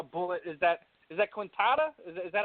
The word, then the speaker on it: Quintana: is that is that Quinn Tata is that how you pronounce it consignor yeah pretty clear quintile so almost like like a katana but with it with a Q yeah yeah exactly ha